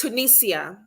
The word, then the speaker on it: Tunisia: mind it was Tunisia I've never Googled the pronunciation before okay but it's it's Tunisia yes okay so before I head into your